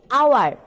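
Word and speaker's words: hour: উচ্চারণ করতে যাই আমরা এখানে তো হাওয়ার বলি না, বলি আওয়ার।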